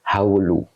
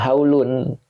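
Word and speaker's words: هولُ: khabarnya itu ada faito Jadi ini bacanya haulu Kenapa tidak haulun Nah kalau dibaca haulun putus tapi kalau dibaca haulu tidak pakai tanwin maka dia bisa menjadi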